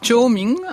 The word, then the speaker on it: Chōmin: Shomin a été l'un des chroniqueurs de cette période de formidables bouleversements pour le Japon. Christine Lévy. Oui, tout à fait, oui. Donc on prononce Chōming en japonais.